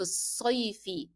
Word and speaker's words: الصيف: So you will drop the pronunciation of the sound of the letter lam. It will be في الصيف. So actually we are moving from ya directly to the shadda letter صاد.